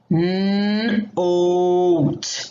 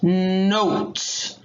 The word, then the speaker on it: note: Now the O turns into a long O and says its name, and the E is silent. Note. Note.